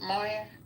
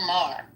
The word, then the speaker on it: Maher: Moyer? Saying he's a racist. Bill Maher.